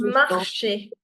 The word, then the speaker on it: marché: So this accent basically changes the sound of E to A. If the accent is there, the sound of E will change from to A. For instance, this will be pronounced as éléphant. This is marché.